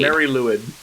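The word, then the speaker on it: Mari Lwyd: So I believe it is pronounced the Mary Lloyd. Mary Lwyd.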